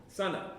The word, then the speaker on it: Sana: It's Sana like the sun. Sana.